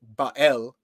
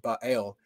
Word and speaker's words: Baal: So the Semitic noun Baal, which in Hebrew is Ba'el, sometimes it's pronounced Baal, but a lot of times it's pronounced Ba'el, meant the owner or the Lord, okay?